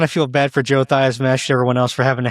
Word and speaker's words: Theismann: His last name is actually Theismann, but he changed the pronunciation of his own name when he was in college to make it rhyme with the Heisman Trophy. So he said hilarious. He was Theismann.